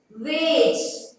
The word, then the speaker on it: wage: E silent, not pronouncing only here. Cage. Wage.